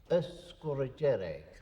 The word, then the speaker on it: Sgùrr Dearg: of the scholarship now the native pronunciation is escorigenic the f being the there is a glide a or a sound put between uh score and jarek that's very common in